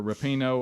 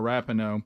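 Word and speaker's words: Rapinoe: comments yesterday from Megan either rapino or rapino purple hair I heard it pronounced both ways um now CJ strad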